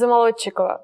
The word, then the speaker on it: Zamolodchikova: Well, my last name is Zamolodchikova, but you don't have to learn that last name.